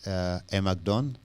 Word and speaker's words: Amac Don: pronounce my name okay how I pronounce it is it a magdon okay correct I wanted to catch